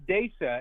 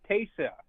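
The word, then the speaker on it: תשע: It's not Desa, it's Taysa. Taysa. Oh, my goodness, of course. No. Taysa. Taysa. That means 9.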